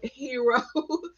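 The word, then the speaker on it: HARO: It's pronounced Harrow, Harrow, Harrow, Hero. People pronounce it differently. And I've actually checked with Cision, and they said it doesn't matter how you pronounce it. So there's no official way. So sometimes I say Harrow, sometimes I say Harrow.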